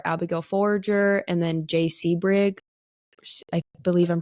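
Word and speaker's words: Sebring: A few more well-known names were Abigail Forager and then Jay Seabrig. I believe I'm pronouncing that correctly.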